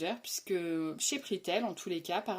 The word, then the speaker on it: Prixtel: m'avait trouvé un forfait défiant toute concurrence chez Pritel. Donc ça s'écrit PRIXTEL et donc ce forfait me proposait tout ce dont j'avais besoin pour une somme modique de 4,99 €.